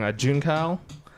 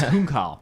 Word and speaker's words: Junkal: say this name wrong, Junkal. He says, do we have plans on visiting different countries? Yes. Oh, it's Hunkal. It's a she. Hunkal. Okay. Yeah. Okay. Hunkal. I looked it up.